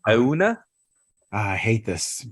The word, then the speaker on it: Ajuna: I don't think you say the J. Yeah. Ajuna. Ajuna.